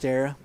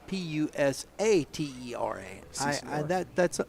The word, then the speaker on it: Pusatera: Pustera? Yeah, Pusatera still. Pusatera. Yeah, Pusatera. Is there an A in there, or did I spell that wrong? There sure should be, I believe. Yeah, there's an A. Okay, so it's Pusatera.